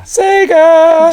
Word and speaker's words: Sega: Is it Sega? Am I saying it right? Yeah. Sega!